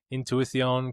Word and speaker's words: Intuición: I think there's a little TH in there. Maybe it was too much. That was like the Spain Spanish.